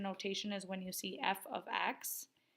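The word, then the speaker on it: f(x): parentheses accident literally pronounced f of X so put a little note there for yourself that says that it's read as f of X just because that's going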